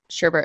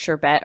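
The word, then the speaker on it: sherbet: for the difference between sherbert and ice cream I think it's actually pronounced sure bet or something but where I grew up it's always been sherbert fruit-based usually it's fruit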